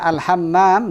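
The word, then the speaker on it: الحمّام: Nah, karena al-hammam dengan al-hamam nanti beda makna. Al-hamam tanpa mim yang ditasdid apa?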